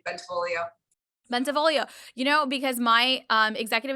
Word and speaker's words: Bentivoglio: Bentivoglio.